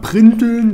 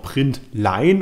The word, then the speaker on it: println: Es gibt Leute, die sagen printeln, das finde ich aber klingt scheiße. Außerdem verrenkt man da seinen Unterkiefer so, deswegen heißt es println. Eigentlich auch println, um es ausgesprochen zu sagen.